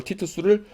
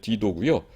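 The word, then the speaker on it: Titus: 이걸 티투스를 한국말로 조선시대식으로 옛날식으로 발음한 거가 이제 디도고요. 영어로는 타이터스라고 하죠.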